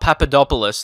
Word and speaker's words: Papadopoulos: his name is padap I know how to say his name but sometimes I just stuff it up papadopolis there you go so yeah it's going